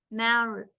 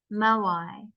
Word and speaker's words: moai: is the weather how tall is the largest Maori let me see how to pronounce this all right so how tall okay so how tall is the largest moai hmm how many people live on the island